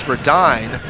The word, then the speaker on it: Verdine: We should also say it's not Verduin, it's Verdine, and I'll get my pronunciations right here.